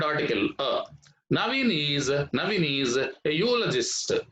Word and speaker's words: eulogist: naveen is navini's a eulogist eulogist here also the from the letter the letter e from this one e plus u u so this is also beginning with a consonant sound here that's why you